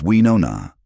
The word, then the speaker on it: Winona: "It's Winona," she corrected him gently one day. The O is rounder. "Winona," he repeated, shaping his mouth around the syllables.